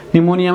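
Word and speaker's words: pneumonia: निमोनिया में बस पी जो होगा वो साइलेंट होगा, ठीक है, निमोनिया, न्यूमोनिया, जिससे निमोनिया रोग होता है।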